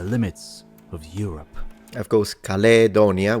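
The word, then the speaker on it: Caledonia: of Europe of course calonia with a long a for phic V length in classical Latin would be modern day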